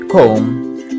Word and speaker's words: comb: lay beside the mirror excuse me when we pronounce the word comb the last bee is silent sorry for the